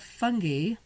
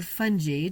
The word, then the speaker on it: fungi: Galus clarifies not the man himself, but the odd fungi, or fungi, depending on how you say it, that had been growing on the man.